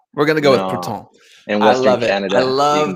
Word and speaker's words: Prouten: My last name is pronounced Prouten. It is technically French, but it is bastardized by the English. So if you're Parisian, you could probably get away with Prouten. But we're gonna go with Prouten.